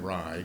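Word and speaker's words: Wrye: Make sure you spell it. Be more than happy. My name is Rye, W-R-Y-E.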